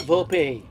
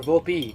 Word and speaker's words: Volpe: The Yankees' top prospect, Anthony Volpe's already got 30 or so around that range in stolen bases. It's not Volpe or Volpe. It's Volpe. Stop adding an accent and a syllable.